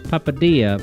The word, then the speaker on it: papadilla: Vector says, papadilla, pronounced like quesadilla.